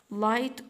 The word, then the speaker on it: light: بعد كده light orange، light orange، وقلنا كلمة light الجي مع الاتش في نص الكلام ما ننطقهمش silent.